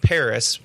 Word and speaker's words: PVRIS: speaking of being excited the band Paris spelled pvris they're coming out with